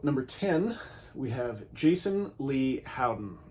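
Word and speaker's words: Lei: So, number 10, we have Jason Lee Howden. I think it's pronounced Lee. It's L-E-I.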